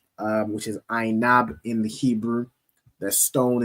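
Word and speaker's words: ענב: The symbol is pronounced as Ainab in the Hebrew.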